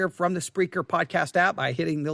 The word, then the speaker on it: Spreaker: It's not speaker, it's Spreaker.